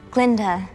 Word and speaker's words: Galinda: Glinda. The G is silent.